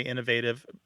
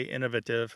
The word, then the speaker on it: innovative: the US UK divide Americans tend to say Innovative the people in the UK tend to say Innovative um but what you'll often find if someone does vary the pronunciation they might have one pronunciation where they use the adjective before a a noun say Innovative solution and they might have a different one if it comes after a verb so that is innovative something like that and